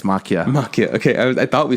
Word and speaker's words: Maquia: No, it's Maquia.